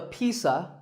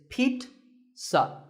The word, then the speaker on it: pizza: did it's not a Pisa and it's not a pizza there's no z sound in this word it's Pete sa Pizza another food word